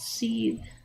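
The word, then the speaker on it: seiðr: seed or it's actually spelled s-e-i-d-r and it's pronounced c uh but it means to to boil um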